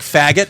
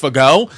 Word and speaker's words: Fagot: So it's like faggot, but it's actually pronounced fagot.